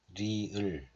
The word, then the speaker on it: 리을: And the sound of this consonant is a little bit different from sound of R, because when you read this in English, then you will pronounce like real, real, but we don't pronounce like re, just li, li을, li을. It's more like L sound, right?